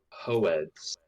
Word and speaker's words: Hoed: Hoed. That's the way. Hoed. I don't know how they. I don't remember how they pronounce it in the regular audiobook, but that's how they pronounce it in the graphic audio, and so That's how they pronounce it.